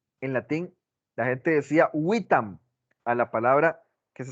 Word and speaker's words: vitam: En ese tiempo se pronunciaban como una W, como la palabra vitam en latín. En latín la gente decía vitam a la palabra que se escribe W-I-T-A-M.